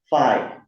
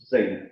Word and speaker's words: Fei: because for many uh for many German they pronounce my name as fi you know. So because it's following the German pronunciation it should be thi right somehow it's connected to the pronunciation of the face right thigh yeah so meaning that